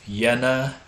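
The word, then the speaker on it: Jena: has a go school in Yen Germany yen is spelled j n a so he's the only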